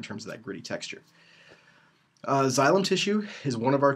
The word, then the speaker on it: xylem: And again, this is pronounced xylem. Sometimes people have a hard time figuring out that X, but it sounds like a Z. It's xylem.